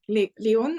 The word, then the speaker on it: Leon: Leon, I don't know how to pronounce your name, sorry. Yeah, it like rhymes with alone.